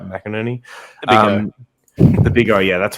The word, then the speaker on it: McInerney: mckinnon yeah that's how you say it right mcinerney the big oh yeah that's why everyone says